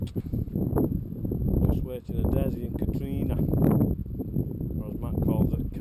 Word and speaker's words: Catriona: We're joined today by Desmond and Katrina. Okay. It's Katrina, isn't it? It's not Catriona, is it? Well, it's Katrina I get called, but it's spelled Catriona.